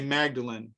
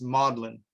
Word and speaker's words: Magdalen: And I used to say Magdalen, but now Mary and I discovered that's Magdalen. That's pronounced Magdalen College.